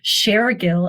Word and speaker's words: Shergill: have to compliment you you pronounced my last name correctly sharill as in sharing information bcha right so that's